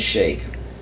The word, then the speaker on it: Sheik: Disguising as Shake. I know you say it's Sheik, but it should be pronounced Shake. It's Sheik. Look, It's the Sheikah. S-H-E-I-K, that word is pronounced Shake.